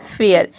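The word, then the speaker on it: fair: Rule number 4, यदि किसी word में ए के बाद आर ई हो तो ए को हम ए प्रोनाउंस करेंगे। फॉर एग्जाम्पल फेयर, फेयर में आप देख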